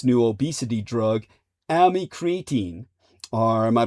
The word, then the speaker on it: amycretin: its new obesity drug, amycretin. Or am I pronouncing that correctly? Amy Cretin? That comes off horribly. Sorry, Amy, I didn't mean that. It's spelled like AMY. And then Cretin, Cretin.